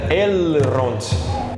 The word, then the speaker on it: Elrond: a pronúncia é que o certo mesmo é elrond assim com o l bem pronunciado l e o r vibrado r então fica elrond para saber mais sobre